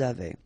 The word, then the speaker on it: avaient: Ils avaient, so look here, E, N, T, you write them, you don't pronounce them.